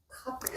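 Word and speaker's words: כף: 카프.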